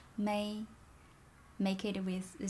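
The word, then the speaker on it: 美: certain tone mark m-e-i without a stone is may may make it with the sound is beautiful i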